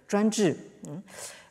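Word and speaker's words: 专制: cette traduction par sensei, en prononciation chinoise, Zhuanzhi.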